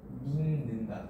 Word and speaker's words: 믿는다: 믿는다. 그치. 얘는 발음을 하면 는다.